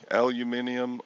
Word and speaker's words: aluminum: what's proper i guess it's good either way aluminium or aluminum which is correct doesn't matter it